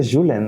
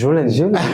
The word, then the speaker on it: Julen: Has pronunciado mi nombre un poco catalán, me has dicho Julen, ¿no? Es Julen. No, o argentino también.